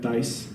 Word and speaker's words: Thais: woman um named thais can you guys say that dice kind of a fun like yeah it's a t-h-a-s thanks you feel smart when you say it one syllable cool words dice now